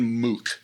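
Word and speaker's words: Muq: But probably the under the radar guy who I could most easily recommend for for your listeners is John Moo. You spell it Mu.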